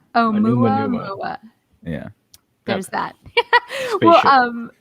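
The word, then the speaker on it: ʻOumuamua: It's called Oumuamua. Oumuamua.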